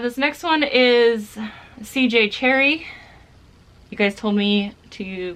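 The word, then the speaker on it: Cherryh: This next one is CJ Cherry. You guys told me to pronounce their name without the H, so that is what I'm doing.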